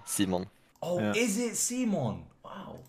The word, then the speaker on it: Simon: you're from I guess my name for example is Simon in English but then in scavia seimon oh is it seimon